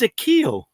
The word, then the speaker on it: Akio: And one of the lessons, Master, and it's actually pronounced, sorry, I should have said this to you off camera, but it's Akio.